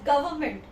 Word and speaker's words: government: speaking this word as government government it's wrong the word is government here I I this R is silent government I have heard